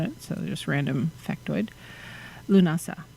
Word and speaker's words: Lughnasadh: so just random factoid lunasa not lunacida and then llamas um